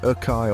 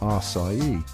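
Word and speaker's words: açaí: Now, this one's a real doozy because it looks like it should be pronounced one way, but it's totally different. I'm talking about the folks who say acai or acai. Bless their hearts, they're trying. But the truth is, it's pronounced acai.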